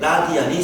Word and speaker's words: 라디안: 정확히 말하면 사실은 여기 뒤에 RAD라는 거 라디안이라고 읽어주는데 라디안이 생략된 거야.